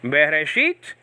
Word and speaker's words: Bereshit: Bereshit, Be means in, okay, and then Reshit, okay, with an R, Reshit with a T also, and there's other pronunciations, means beginning. So Bereshit means in beginning.